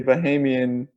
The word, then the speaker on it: Bahamian: versus a Bahamian Bahamian? No, Bahamian? you said it right the first time.